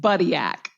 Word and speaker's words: Buttigieg: You're actually both wrong. Oh my gosh. There we go. It's pronounced Buttigieg, but it's now.